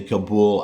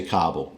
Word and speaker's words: Kabul: defense just to reassure some people I do pronounce the capital of Afghanistan where people will sometimes say Kabul I do say Kabul I don't say Qatar for that country in